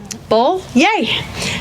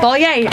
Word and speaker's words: Bollier: Think of bowl of cherries, Bull, yay. Say yay. Bull, yay.